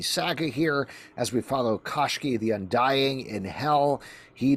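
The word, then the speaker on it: Koshchei: Let's talk about Koshki in Hell, #1 from Dark Horse Comics.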